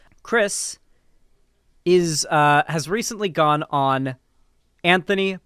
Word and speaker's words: Kris: a trans woman and goes by K-R-I-S Tyson, not C-R-C-H-R-I-S Tyson, a more feminine spelling, but the same pronunciation. Chris has recently gone on